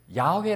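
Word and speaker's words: 야훼: 저희 다 붙여서 읽었는데 그걸 야외 라고 읽을지 여호와 라고 해야 될지 잘 모릅니다 우리가 어떤 데서는 야외 라고 했는데 사실 잘못된 게 아닙니다 야외 하나님 이라고 해도 틀린 말이 아니고 여호와 하나님으로 틀린 말이 아니에요 근데 그 여호와 하나님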